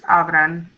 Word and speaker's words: abran: Ustedes command for abrir is abran, and it ends in an N. So the stress is on the next to the last syllable. Abran.